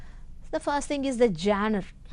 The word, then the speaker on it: genre: So the first thing is the genre. How to pronounce that word?